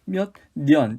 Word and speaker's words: 몇 년: 년. 연이라고 발음하지 않고 몇 년.